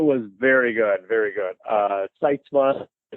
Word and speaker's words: Sytsma: Sytsma, Sytsma is the way I pronounce it, although I've been confronted by Dutch people that say, you're saying it wrong. But that's how we say it, so we're going to stick with it.